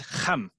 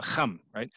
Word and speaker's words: Ham: region where this word originated from it's actually pronounced hum so hum so you have that that that guttural CH